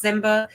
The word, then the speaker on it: Ziemba: e MBA uh pronounce zimba so if you think of Simba from The Lion King but just make that z sound that's yeah how you